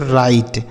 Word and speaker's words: write: अगला शब्द है WRITE, तो इसे हम पढ़ेंगे बच्चों राइट। WRITE, राइट।